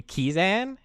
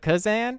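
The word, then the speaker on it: Kezan: Well, and another person back on our Goblin episodes, like you pronounced, I think they said it was supposed to be Kizan instead of Kazan.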